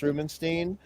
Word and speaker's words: Rubinstein: a massive fan of Joe Rubinstein sometimes pronounced Rubenstein I think that Rubenstein